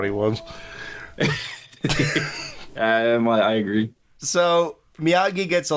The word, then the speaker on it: Miyagi: So Miyagi gets a letter about his dying dad. Certified letter for Mr. Maji. What he says? Yeah. And Dale's like, "Excuse me, it's it's it's Miyagi from Okinawa."